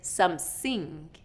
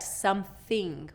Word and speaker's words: something: Instead of something, I'm hearing somesing. So that's not correct, something, we want that TH outside of our mouth a little bit and between our teeth.